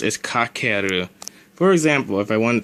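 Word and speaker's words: 掛ける: the most normal way that I've heard it pronounced is kakeru.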